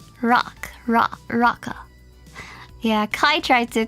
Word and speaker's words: Roca: It's not like rowing. It's like rock rocka.